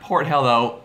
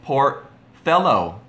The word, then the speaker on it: Portello: port hello Cove huh oh not port hello poor fellow Cove course us dang Americans can never pronounce anything correctly I know it's okay